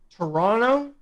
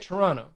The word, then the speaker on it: Toronto: There are 2 places. Toronto, as Americans say it, or across the globe, Toronto. Yes. If you're from here, you say it Toronto.